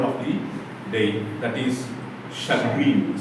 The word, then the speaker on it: chagrin: the day, that is chagrin, C-H-A-G-R-I-N, broken into 2 syllables, C-H-A, pronounced as S-H-U-H, sh. And grin, for this second syllable, you must give emphasis.